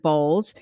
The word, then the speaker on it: Bolles: As a career coach and counselor of 30 plus years, Shell was trained by Richard Bolles. Did I pronounce that right, Shell?